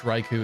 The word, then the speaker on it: Raichu: able to accept that ouu in Japanese is just o but in English Raichu is fine and the normal to be honest yeah I do think most people actually say Raichu from what I've heard